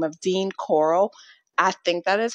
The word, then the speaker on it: Corll: The Walking Dead, and Rick Grimes always pronounces his son's name instead of Carl. He calls him Corll. So I know it's off topic, but that is where I'm getting that pronunciation from.